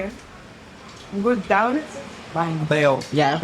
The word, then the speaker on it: bánh bèo: Bánh bèo. Bánh mềm. Bánh bèo. Yeah, that's right. Eo, not ow. Bánh bao is a different thing.